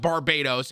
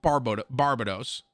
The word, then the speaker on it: Barbados: Because it's not pronounced Barbados. It's pronounced Barbados.